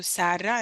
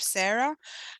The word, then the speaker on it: Sarra: But if someone asks me, I always explain how I pronounce it and try and help them get to Sarra instead of Sarah.